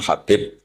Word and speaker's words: Habib: Ada yang nulis Abi Abdurrahman Habib Asulami. itu di harakatnya kitab itu ada yang nulis tapi yang benar oh nggih yang benar itu bacanya habib habib itu sulami itu